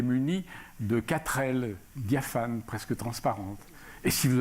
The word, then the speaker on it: femme: des écoles lui dit fe2 m eux se prononcent femme qui a sondé mais ya pas de adam femme a bien vu c'est exact mais c'est comme ça le e de femmes se prononce à l petit garçon se